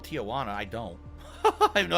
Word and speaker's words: Tijuana: doing yak almighty tijuana t-i-j-u-a-n-a so it's not tijuana it's actually tijuana why does it why